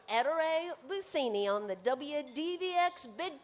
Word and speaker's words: Ettore: Eter.